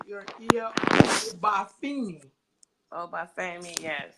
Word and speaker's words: Obafemi: Obafemi, yes. Obafemi.